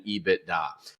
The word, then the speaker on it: EBITDA: In 21 years on Wall Street, I've never heard anybody call it anything else other than EBITDA. And so it's a 3-syllable word.